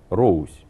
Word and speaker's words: Русь: Пишется это через буквицу ОУК. Это дифтонг. Два звука. Роусь произносится.